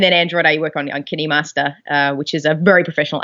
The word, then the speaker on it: KineMaster: And then Android, I work on KineMaster, which is a very professional app for that platform. What is that one called again? KineMaster, or Oh, It's spelled KindMaster, but I think it's said KineMaster.